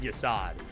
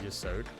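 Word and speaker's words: Yesod: problem the way I Yod is actually the way it's supposed to be pronounced. It is not Ysad. I just say Yasad because I am stupid dumb English man. Yod is the intended pronunciation of Yasad.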